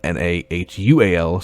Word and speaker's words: Nahual: In Mexico, a little bit north, we have a legend known as the Nahual, pronounced N-A-W-A-L, spelled N-A-H-U-A-L, so Nahual, I guess is how it's pronounced.